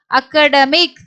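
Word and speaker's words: academic: அக் ஆ, இங்க அக்க ட மீ இக் அகடமிக். இங்க ஏயோட உச்சரிப்பு பாத்தீங்கன்னா ஆடு தான் வருது.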